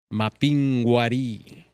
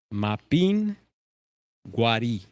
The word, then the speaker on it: Mapinguari: Maybe do a little homework on the Mapinguari. Yes. Pronounce it with me. Mapin guari. Mapinguari.